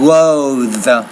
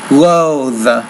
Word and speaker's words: loathe: got, goat, lock, loathe, And try that one word, loathe. It's actually, you're pronouncing it correctly, but the TH is a vibrating sound, loathe, loathe.